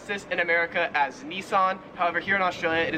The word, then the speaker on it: Nissan: this car company right here so we would pronounce this in America as Nissan however here in Australia it is pronounced niss